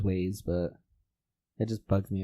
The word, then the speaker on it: Waze: I've always pronounced it Wazi. Whatever. I'm pretty sure it is Waze, but it just bugs me every time.